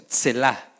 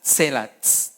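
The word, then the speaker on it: צלע: Esa se pronuncia tselá, tsela, con TS. Esta es una tzade, tsela. Viga o soporte.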